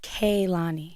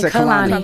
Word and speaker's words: Kehlani: let everyone know that my name is pronounced Kani. Kani Kani. Who said otherwise? You guys say Khalani. Kani. Always say Kani.